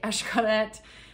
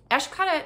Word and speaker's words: Xcaret: Xcaret is spelled with an X, as you know. It's Mayan, so everything is Esh.